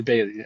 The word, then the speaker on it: Bailey: Is it Patrick Beverly? Patrick Bailey? Yep. Oh, Beverly? Bailey. I think it's Bailey. Yeah, I'm saying it wrong. Okay, I didn't know if I those were think it's two Bailey. guys. Patrick, yeah, I think okay, it's Patrick Bailey.